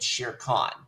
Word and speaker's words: Shere Khan: One, I'm gonna give this 78, and two, the pronunciations are Mowgli and Shere Khan.